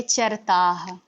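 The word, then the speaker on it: चरतः: ते चरताह। ते चरताह, जो विसर्ग होता है उसका प्रोनाउंसिएशन हा करते हैं, उसको हम हा पढ़ते हैं।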